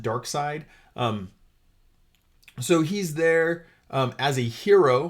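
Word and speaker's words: Darkseid: 1,870 is dark side it looks like seed but as Yellow Lantern you pronounce it dark side um so he's there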